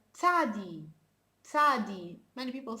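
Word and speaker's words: צדי: um a bird so you have to make a combination between the t sound and the s sound and also this sound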